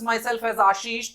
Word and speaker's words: Ashish: रहे हैं तो नाउ it's incorrect, because I pronounce my self as आशीष, तो यू नीड टू से आशीष एज वेल।